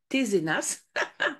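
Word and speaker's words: Tesenas: il se prononce bien tzenas et le S aussi se prononce ok pour faire bien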